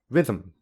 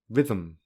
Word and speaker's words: rhythm: rhythm rhythm rhythm you cannot hear a vowel instead the pronunciation moves directly from to um in this case um is a syllabic consonant because it is a syllable yet there is no vowel even is another example